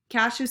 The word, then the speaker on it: cache: all of their caches caches spelled like cash Valley what's a cache so